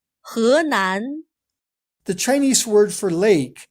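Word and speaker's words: Henan: 河南湖南 Notice that he is not pronounced as he. This Chinese word for river sounds more like he. 河南 The Chinese word for lake sounds like hu.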